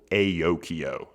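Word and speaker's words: Aokeo: The company is called Aokio. That's spelled A-O-K-E-O.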